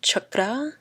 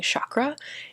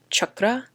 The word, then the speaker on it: chakra: relate to the root chakra that's how you say it correctly but i am very whitewashed so i'm going to be saying chakra even though it's chakra so reiterating that and